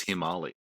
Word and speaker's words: Himalayas: ] up about how the correct way to say it is he Molly and this put me off the Himalayas for life you mean the Himalayas it put me off